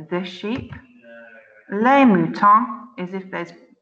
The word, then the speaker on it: mouton: So, un mouton. Un is telling us it's a masculine word, so you can write that on the masculine side. Le mouton, that's how to say the sheep. Les moutons is if there's, it's plural if there's lots